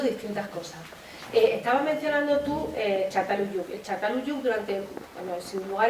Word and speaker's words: Çatalhöyük: cuando vi imágenes de, no sé si lo pronuncio bien, Çatalhöyük, sí, Çatalhöyük.